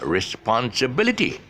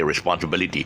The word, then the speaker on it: responsibility: And again, the shift with the et, the suffix. Once you put it on this mode, responsibility. Okay. I actually, what I'm doing now at this present moment, I'm actually stressing on the syllable that needs to be stressed extra. The reason why I'm doing it extra is because I'm emphasizing. But actually, if I normally speak, I'll just say responsibility.